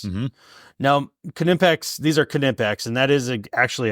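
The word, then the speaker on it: Knipex: other make sense mhm now kimpex these are kimpex and that is actually how you you pronounce it everybody's watching and they'll be like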